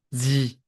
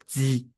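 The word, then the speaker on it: 痔: It is just one syllable, G. Yes, just G. It sounds exactly like the letter G.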